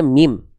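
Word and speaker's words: ميم: Jangan sebut ini huruf ma. Tidak ada huruf hijaiyah yang nama aslinya ma, nggak ada. Namanya mim. Bagaimana cara melafalkan huruf mim? Mim dilafalkan persis bagaimana kita melafalkan huruf M pada abjad alfabet.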